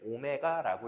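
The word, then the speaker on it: ω: W처럼 생긴 녀석을 배우겠지만 뭐 얘를 읽을 때는 오메가라고 읽어요.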